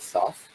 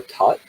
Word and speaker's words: Thoth: If you're watching this live, then tomorrow I'm giving a channeling of Thoth, or Tot in the traditional Egyptian pronunciation.